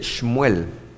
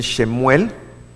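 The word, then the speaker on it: שמואל: Se dice Shmuel. Shmuel. Algunos dicen Shemuel, pero no es Shemuel, es una shva, es una que tiene esa inclinación, pero al final la letra llega a ser muda.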